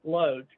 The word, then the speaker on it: Loach: the Trap Loach right Loach because it rhymes with Roach um it is getting